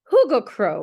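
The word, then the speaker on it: hyggekrog: this Cozy Corner this Huga H Huga Crow is how it's pronounced but I'm going to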